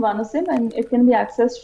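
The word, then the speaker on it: Vanxim: spelled van v n x i m it's pronounced vanim and it can be accessed from D so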